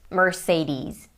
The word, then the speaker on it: Mercedes: So in the US they say Mercedes. Mercedes. American and British versions I believe are the same for this brand name.